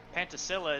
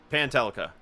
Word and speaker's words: Pantelica: He's let Pantasilla, is that how you pronounce that, Zach? Pantelica. Pantelica. Sorry, you know me.